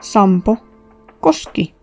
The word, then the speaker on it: Sampo Koski: Alright, so yeah, it'll sound weird but Sampo is Finnish. Also, I don't mean that he's from Finland, but that his name is Finnish. And yes, there is a quote-unquote right way to pronounce it, and that's Sampo Koski.